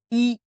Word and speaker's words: 医: vous vous rappelez ouais i la prononciation comme le chiffre 1 voilà premier ton donc i mais à partir de